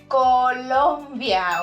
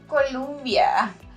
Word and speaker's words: Colombia: Colombia, okay? Not Columbia.